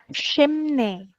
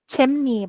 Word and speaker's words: chimney: Shimne eh chimne I'm sorry chimne ya. Chimne. Asalamualaikum ustazah. Apa terlambat? Waalaikumsalam warahmatullah. It's okha. Oke, I will check out how to pronounce this. Chimni. Betul ya.